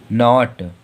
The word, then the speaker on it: knot: KNOT, जो यन के पहले के आ रहा तो इसलिए के साइलेंट, इसे क्या पढ़ेंगे? नॉट। नॉट।